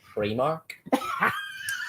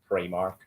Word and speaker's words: Primark: Pronounced Primark. I'm just saying, it's pronounced Primark.